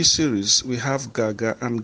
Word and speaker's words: gaga: But here in the G series, we have Gaga, and Gaga, as I said, is spelled G-A-G-A, and the stress marks on the vowels are the first A falling from left to right, and the last A rising from left to right.